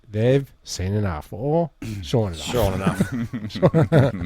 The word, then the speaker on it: Sean: A witness of the nudity say they've seen enough or Sean enough. Sure enough. Can be pronounced seen. It can be, yeah, Scene. okay, I think you're in my phone as seen. Yeah, it's SEAN.